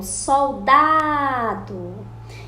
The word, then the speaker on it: soldado: A penúltima sílaba é a sílaba forte que está no meio da palavra, igual soldado. Então, a que está no meio é a penúltima sílaba.